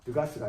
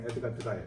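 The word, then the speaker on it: Degas: 에드가 드가, 드가스가 아니라 에드가 드가예요.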